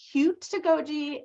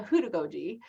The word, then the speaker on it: heutagogy: And I've heard it pronounced heutagogy and also heutagogy. That's up to you.